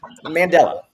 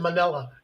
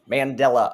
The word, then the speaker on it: Mandela: one of the effects you say his name wrong Mandela what did I say I got you you you were speaking fast you said manella you said manella t I'm mumbling Mandela effect um or or